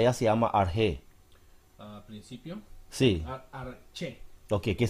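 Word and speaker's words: ἀρχή: llama, pronunciada ya se llama arge. Principio. Sí, Arche. ok, que se escribe arche. Ajá. Ah, se pronuncia con arge. acento, con acento en la E. Yeah, arge.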